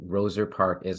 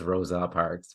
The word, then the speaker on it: Roser Park: comom and Roser Park is spelled r o s r yes thank you for clarifying that a lot of people think it's Rosa Parks but it's not yeah Roser uh Park yeah yeah those are